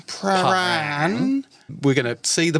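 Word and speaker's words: Prahran: We're going to pronounce it Pran in Pran.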